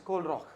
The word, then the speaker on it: Kohlrausch: See, it's Kohlrausch. Indians pronounce it Kohlrausch. If you look at German, it's Kohlrausch.